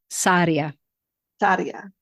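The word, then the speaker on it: Sarria: I pronouncing that right if you could roll the RS they'd be happier but Saria Saria so ponera to Santiago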